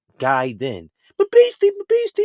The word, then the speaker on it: Gaiden: base y got to stop saying gay and start saying guy then but basically basically it's